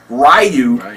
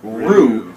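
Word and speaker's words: ryū: That this whole time, me and all of my buddies were calling this guy Ryu, when the real pronunciation of it is Ryu, which has a meaning of martial family.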